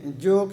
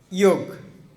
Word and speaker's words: योग: क्या है बहुत सुंदर जोग शब्द जो जो शब्द क्या है जोग एक्चु बांगला शब्द है योग जोग नहीं योग इसको उ क्या है